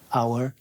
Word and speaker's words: hour: It's one of the 5 words that you don't pronounce the H of. Yeah. The others, like hour.